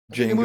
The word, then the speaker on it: Django: It's a rare name, Django. It's so rad. It just reminds me, you ever see that movie? Django It was called Unchained? Django with Jamie Foxx. Django Unchained. Django, Yeah. the D is silent.